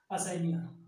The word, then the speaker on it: Usnea: ये भाई क्वेश्चन बहुत ज्यादा पूछता है, एंटीबायोटिक किस लाइकेन से बनता है, असैनिया। असैनिया आप याद कर लीजिए, स्पेलिंग है USNEA, USNEA, असैनिया।